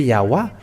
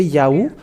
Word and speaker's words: Yahweh: If they put A here in the Yah, and they should put also A at the end so that it can be Yahweh. They should call Yahweh, and they should not stop at Yahoo.